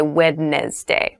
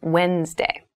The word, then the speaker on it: Wednesday: There's a D there, but we don't say Wednesday. We say Wednesday.